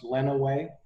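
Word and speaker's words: Lenawee: in the county next to jackson which is pronounced lena way by the way thank you okay and um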